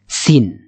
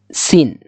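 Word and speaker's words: سين: নোকতা দেওয়া নাই, সেক্ষেত্রে এই যে যেমন এটা সিন, এটা কিন্তু দন্ত স, উচ্চারণের সুবিধার্থে আমরা দন্ত স্বয়ের সাথে আর কি তুলনা করে বলতে পারি হ্যাঁ এটা দন্ত স, বা এরকম ভাবে উচ্চারণ হবে সিন।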